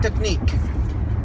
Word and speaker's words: technique: And how many do you pronounce only out of those 5 letters? 3. 3. Now, what is the color of the vowel in nick?